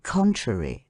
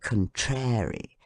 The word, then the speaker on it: contrary: audible than the rest thus in the word theatre the stress of the voice should be on the letter e and first syllable si and in contrary on the first syllable con how shocking it is to hear people say contrary theatre the Friends of Education